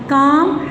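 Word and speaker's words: calm: एल कब silent होगा? एल is often not pronounced, often है अक्सर, हमेशा नहीं। Before L डी एफ एम के, एल डी एफ एम के क्या है उसके बाद बिफोर, उससे पहले ये नहीं बोलेगा। काम, half, talk, walk, would, should, इनमें देखो कि एल आपका साइलेंट है।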